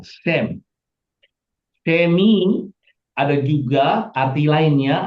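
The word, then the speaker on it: שם: Ya, kalau kita Sam ya, nah, Shem.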